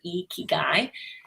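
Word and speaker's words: 生きがい: And we have the pronunciation now there, Ikigai.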